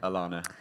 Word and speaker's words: Alana: isn't it it's definitely Alana so my name is silent h Alana really yes I moved